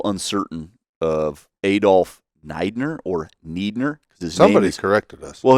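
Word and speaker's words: Niedner: Well, his name is often spelled with those two vowels switched around, and in typical German pronunciation, you're going to pronounce the second one. So I believe he wanted it pronounced Neidner because it probably looked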